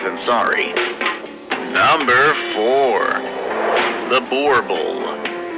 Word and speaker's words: Boerboel: sorry number four the Boerboel the Boerboel pronounce of course vorpal is a large Guardian